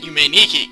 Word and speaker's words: Yume 2kki: I've figured out that you can pronounce it Yume 2kki, because 2 in Japanese is ni.